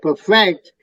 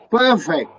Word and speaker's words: perfect: Syllable stress is very, very important. You don't say perfect, you say perfect. First syllable is pronounced perfect, not perfect.